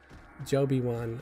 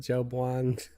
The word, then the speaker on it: Jiwan: away if I I my handle is pronounced like Obi-Wan Obi-Wan Kenobi but with a J because my real name is jiwan okay okay I can do that I've been pronouncing it joban so I'm sorry thank